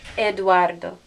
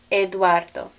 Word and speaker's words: Eduardo: that you know it eduardo eduardo eduardo there's an example of a diphthong we don't say e eduardo eduardo those go together okay